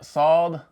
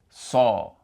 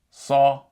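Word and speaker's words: صَ: is pronounced more like saw versus sa. So, it's pronounced more like saw as in chainsaw versus sa as in sand. So, the sad and fatha would be pronounced like saw.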